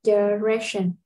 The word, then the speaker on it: direction: Đừng đọc là đi hoặc là die nha các bạn. Asking direction.